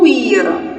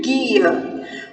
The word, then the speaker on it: guia: E guia, eu não digo guia, eu digo guia.